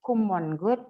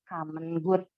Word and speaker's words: common good: common good common2 God itu bacanya bukan common good tapi komen good yang begitu-begitu sehingga karena